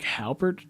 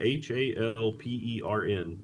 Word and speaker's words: Halpern: You say like Halpert Travel is like Jim from the office. What do you want me to do? Spell it for you. H A L P E R N. Halpern.